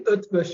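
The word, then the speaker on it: Eötvös: inan that's good yeah it's actually utsh University yes and then they do and they say budapes yeah so the S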